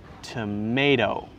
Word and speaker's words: tomato: t sound is not the second t sound sounds different listen carefully tomato tomato tomato tomato tomato